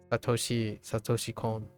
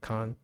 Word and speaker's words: Satoshi Kon: Or I guess I would say Satoshi Kon, not Kon. Toshikan comes from my like English pronunciation for a very long time.